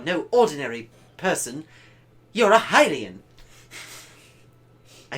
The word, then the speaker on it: Hylian: You're a Hylian.